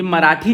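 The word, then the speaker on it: Mahratta: और एक और पेपर था मराठा के नाम से, इंग्लिश में वैसे स्पेलिंग कुछ ऐसी होती है बट हिंदी में से मराठा पढ़ते हैं, और ये न्यूज़पेपर इंग्लिश में स्टार्ट किया गया था।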